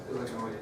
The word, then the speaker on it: Illinois: Illinois. That's correct! Illinois! It's Illinois, not Illinois. Illinois, 1818. You didn't pronounce it right.